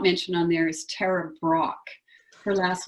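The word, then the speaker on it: Brach: And one person I did not mention on there is Tara Brock. Her last name is spelled B-R-A-C-H, and her first name is Tara.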